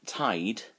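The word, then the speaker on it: taid: And tied is pronounced pretty much the same as if you're tied to something, with a rope or something. So and tied is grandfather.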